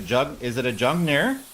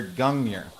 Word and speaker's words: Gungnir: So is it a G sound or a J sound? Is it a Jungnir? Jungnir or Gungnir? I'm not really like, I'm definitely not white enough. Not Scandinavian. Hard G, I believe. Hard G. The hardest of Gs.